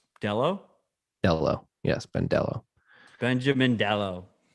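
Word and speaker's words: Delo: Dello.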